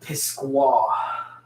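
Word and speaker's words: Pisgah: or whatever well well they were calling it pisqua like with a queue and she found it hilarious which is very funny how people pronounce things differently in different areas like how do you go from pisca which is literally p-i-s-g-a-h that's pisco good did you uh join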